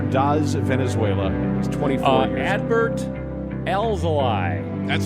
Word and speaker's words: Adbert Alzolay: Adbert Alzolay. That's how it's spelled.